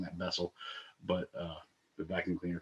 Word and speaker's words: Bessel: reality and whose solution is for instance a bissell function a vessel a bissell function uh actually should be pronouncing that vessel but uh the vacuum cleaner companies got many